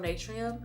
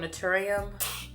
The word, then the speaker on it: Naturium: I use the one from Natrium. I think that's how you say it, Natrium. Or no, I like the one from Naturium, but I've had a couple of breakouts.